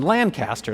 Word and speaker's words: Lancaster: to say Lancaster County, you say it like a reasonable person, Lancaster.